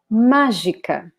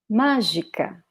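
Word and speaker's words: mágica: magic okay so here notice that this first syllable has an accent so we should pronounce it as the strongest one so let's read it again magica magica magica okay here we have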